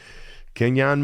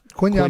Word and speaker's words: Quinyon: Kenyon Mitchell. How about that? Is that how you say? Is that how you pronounce the first name? Quinyon Mitchell. Sorry about that, Quinyon.